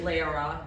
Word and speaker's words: Lara: Just a reminder, my name is Lara, rhymes with Sarah, rhymes with leopard if you need that too.